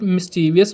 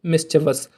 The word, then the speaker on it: mischievous: At first, I was pronouncing it mischievous, but thanks to my mother who came to the rescue and educated me with the correct pronunciation, which is mischievous।